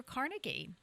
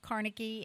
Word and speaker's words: Carnegie: It is also the birthday of the late Andrew Carnegie, the steel tycoon. And now I've heard this pronounced both ways. Carnegie and Carnegie.